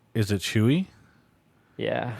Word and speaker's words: Tzuyu: Pronounced Chewy after the Twice member. Is it Chewy?